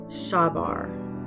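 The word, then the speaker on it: שבר: So, the word brokenhearted in the Hebrew, it's shavar. Shavar. Pronounced like sha var.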